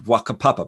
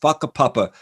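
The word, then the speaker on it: whakapapa: maori culture there is a concept called papa spelled with wh it looks like wakka papa but a papa which is their word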